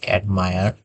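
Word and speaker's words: admire: এরপরে আমরা খেয়াল করতে পারি যে প্রশংসা করার ক্ষেত্রে আমরা বলতে পারি অ্যাডমায়ার, অ্যাডমায়ার। এখানে আমরা দেখতে পাবো আই আর ই এখানে শেষে আছে, আমরা এটা উচ্চারণ করি অ্যাডমিয়ার, মানে প্রশংসা করা।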